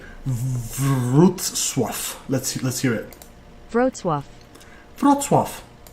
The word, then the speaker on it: Wrocław: Wrocław. Let's hear it. Wrocław. Wrocław. Wrocław. There you go. I was so tempted to say Wroclaw, but I just had a feeling that's completely inaccurate. So Wrocław.